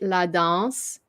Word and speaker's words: La danse: You don't pronounce the E, so it's dance.